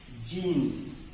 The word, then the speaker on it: genus: पहला similar word आपका है जीन्स और दूसरा सिमिलर वर्ड जो हम आपको बताने जा रहे हैं वो भी है GENUS। GENUS। यहां पे आप जीन्स कहते हैं और यहां पे आप जीनस कहते हैं।